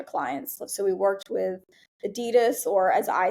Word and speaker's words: Adidas: So we worked with Adidas, or as I said back in the day, Adidas, which is yeah, technically the correct pronunciation.